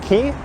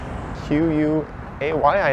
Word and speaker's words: Quay: IR GRE Quay begins key q u a y I know it's key but I often mispronounce it Quay when I read